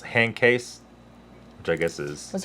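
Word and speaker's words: Handkäse: you pronounce that either and uh it's actually pronounced hand case which i guess is was there a date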